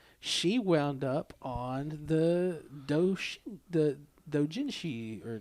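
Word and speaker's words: dōjinshi: Well, she wound up on the Dojinshi or Joshinji. I can't pronounce it. Dojinshi.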